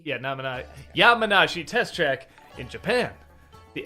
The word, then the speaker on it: Yamanashi: the how do you say Yama yamanishi Yi yamanashi yam yeah yamanashi yeah Nam yamanashi test track in Japan the Lo series maglab